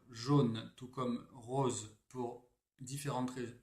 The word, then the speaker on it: jaune: Et là aussi, effectivement, ça dépend des régions, puisque nous on dit jaune, mais en réalité, cette combinaison de lettres est censée se lire jaune, tout comme rose, pour différentes raisons.